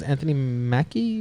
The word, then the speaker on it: Anthony Mackie: The other thing is Captain America's Anthony Mackie.